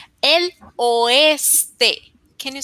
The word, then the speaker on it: oeste: El ostre. El oeste. Can you say it again, please? El oeste. Perfecto pronunciación.